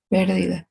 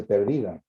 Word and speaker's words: pérdida: Pérdida. Pérdida. Es pérdida con acento en la E, ¿no? Si ponen sin acento dice perdida.